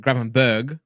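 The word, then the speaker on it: Gravenberch: spell in my stream everyone told me to pronounce it gravenberg with a g everyone in my videos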